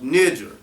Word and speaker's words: Niger: up let's go this the Greek 3526 Niger pronounced Niger M of Latin black black